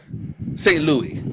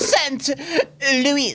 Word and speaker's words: Saint Louis: St. Louis. Excuse me, Mr. Costello, but it's pronounced Saint Louis.